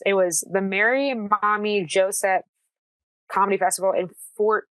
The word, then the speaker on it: Maumee: It's a festival that happens in Fort Wayne, and Mommy is spelled Maumee.